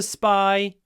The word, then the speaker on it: spy: sentence surprising anyway to spy a spy Spy a nice long s spy Spy and when it's s p we actually say s s little Pause by spy s Spy s by